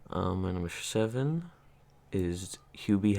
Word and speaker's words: Hubie: my number seven is hubie halloween oh which we pronounced for the longest time hubby halloween you did i